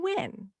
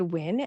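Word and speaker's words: Nguyen: this Vietnamese last name is it endgame noon when our new win so if you said win you win and if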